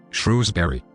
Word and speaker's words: Shrewsbury: look like they shouldn't shrewsbury for example is pronounced like it's a two-syllable word why american news are